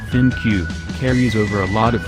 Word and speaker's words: ThinQ: it goes again the g7 thing pronounced thin cube carries over a lot